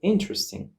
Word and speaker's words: interesting: can type, for example, interesting. You see that the word has three syllables, in, tr, sting, and the syllables are divided using dots. Interesting. And the stress mark is on the first syllable.